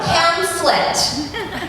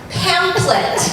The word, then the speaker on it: pamphlet: there's the word pamphlet p a m p h l e t pamplet that's the word it is not in fact pamplet there's never been a pamphlet you've never read a pamphlet those don't exist it's a pamplet what happens to the H where did the H go I have a theory